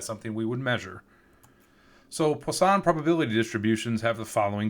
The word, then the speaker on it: Poisson: involving Poisson probability distributions I always want to say poison but is pronounced Poisson in French so so Poisson probability